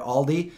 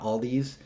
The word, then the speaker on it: Aldi: to say all right I used to say all these and at least I corrected that I call it Aldi not all these you know kind of